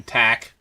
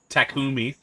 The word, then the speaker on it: Takumi: main character Taki's name they just called him Tac they pronounced his name wrong takumi that was the worst